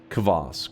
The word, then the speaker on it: kvass: It's pronounced with that uh kvass.